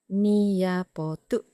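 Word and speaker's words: නියපොතු: Nails is niapotu, niapotu.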